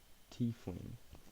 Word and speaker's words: tiefling: Tiefling. It's pronounced tiefling. I understand now. It looks... Hear me out. T-E-I in my head feels like it should be pronounced Tay.